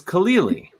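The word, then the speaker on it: Khalili: your last name is kalili am i pronouncing that right mm-hmm but that's not hard it's like khalil gibran yeah and then you add an e and another e sound yeah that's my mnemonic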